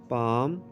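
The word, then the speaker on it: palm: Teeth, दांत, teeth, दांत, पाम, हथेली। फ्रेंड्स, इसमें एल जो है वो साइलेंट है।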